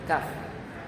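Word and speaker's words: كاف: Una cosa es la Qaf y otra cosa es la Kaf. Qaf, Kaf. Qaf, Kaf. ¿Notan la diferencia en la pronunciación?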